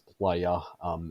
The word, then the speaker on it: Plaja: if you want to get really technical, it's Old Catalan for beach, and Spanish for beach is playa, and that's what everyone